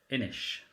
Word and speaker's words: Inis: Oh, I've just recently purchased Inish, which is spelled Innis. But it's Inish.